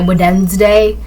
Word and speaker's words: Wednesday: Weden day. That's really how it's spelled. Weden day, but it says Wednesday. It's w e d n e s d a y. Wed day.